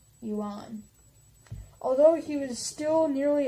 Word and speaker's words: Yuan: dynastic title the Yan spelled why you a and I'm gonna say un yuan although he was still